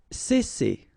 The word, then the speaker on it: cesser: Cesser. Alright, so double S here, as I said previously, and you've got two vowels, so it's really strong. It's S, cesser. Ressembler.